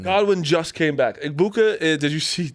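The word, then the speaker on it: Egbuka: Igbuka, did you see? How did Gronk pronounce that? Gronk, Igbukiki. Oh, Something yeah. like that. Igbuka, though, is like Big boo.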